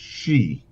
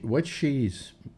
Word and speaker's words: Xi: Yeah, I believe it's pronounced she.